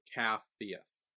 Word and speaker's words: Capheus: Capheus. Capheus. Did I say Yay! his name right? Then because that was why I was questioning it. Capheus. Yeah, it's Caphus. Capheus. CHPH. C-A. CAPH. P-H-E-U-S. EUS. So Capheus.